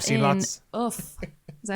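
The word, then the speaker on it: œuf: So maybe I have seen an egg like that, but Well, you've not seen in lots- oof. Is that how you say it? Oof. Oof.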